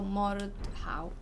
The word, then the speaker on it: Mordhau: So Mordhau. O and AU sound the same in English.